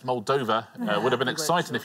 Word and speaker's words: Moldova: Yeah, well played, not Moldova, it's Moldova.